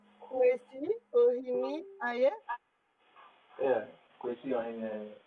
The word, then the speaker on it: Kawasi Ohene-Ayeh: Kawasi Ohene-Ayeh, right.